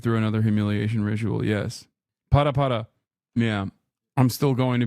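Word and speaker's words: ParaPara: This time not twerking, but this time specifically, pare pare. Is that how you say it? I'm putting Miskiff through another humiliation ritual. Yes. Para para.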